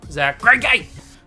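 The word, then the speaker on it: Zack Greinke: Alright, let's take out a guy and let's put in Zach Greinke.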